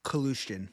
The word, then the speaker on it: Kalushkin: What's his last name? Kalushkin. That's how you say it.